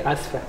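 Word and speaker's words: آسفة: Oh, you have, as a lady, you have to say asfa. Asfa. Yeah, I would say muha. Muha. Samuha. No, I would say yeah. asfa.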